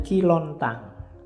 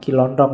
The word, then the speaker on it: Ki Lontang: Ada muridnya namanya Ki Lontang. Kiontang. Ini waktu diinterogasi antara lain yang diucapkan itu bukan Kiontong ya. Kamu ngertine Kiontong. Oke, nanti jadi stand up. Katanya Ki Lontang.